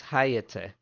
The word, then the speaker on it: Hayate: The pronunciation shows it as ha and then ya like the beginning of yatsi and then t e h. So hayate.